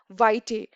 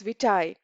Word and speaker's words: vitae: Now, it's a often curriculum vitae or CV is pronounced as vitae, but the correct pronunciation is vitae.